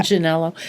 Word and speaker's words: Manganiello: Manganiello.